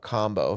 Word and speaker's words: kambo: And if I can do that and work with this warrior medicine, then, which I'm talking about combo for those that don't know, it's spelled KAMBO, where they burn with a small